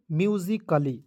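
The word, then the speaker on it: musically: पढ़ लिया उसके बाद यहां पे ए को साइलेंट करना है क्यों करना है क्योंकि डबल एल वाई के पहले ए है तो एक को साइलेंट करेंगे डबल एल वाई को ली तो इसे पढ़ेंगे म्यूजिकली समझ गए उसके बाद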